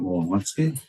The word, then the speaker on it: Wolowski: We also have Wolowski. Is that the right last pronunciation? Phonetically, the W is pronounced like a B.